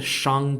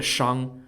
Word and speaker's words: Shang: at the time so daji lived during the Shang Dynasty for those of you who don't know